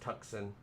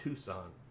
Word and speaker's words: Tucson: out there somewhere out no it's it's not pronounced tuxen it should though it's tucson i don't but yeah the s and the